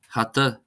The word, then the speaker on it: hata: the stress uh just to hear that first syllable being stressed. Uh afran afran meaning mass. Hata hata meaning hat.